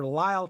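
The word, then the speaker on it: Lyle: of ubiquitous character actor Lyall Talbot, pronounced and spelled the same L Y L E L.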